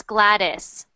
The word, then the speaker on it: Gladys: Gladys good good so that's more like an a not an e at the end so it's Gladys Broadus Gladys but good